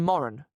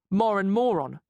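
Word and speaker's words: Moran: too his real name's Moren rhymes with Warren but R PE teacher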